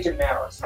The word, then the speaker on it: Desmarais: I say Demaris. I anglicize it.